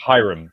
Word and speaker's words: Hiram: It's pronounced Hiram, by the way.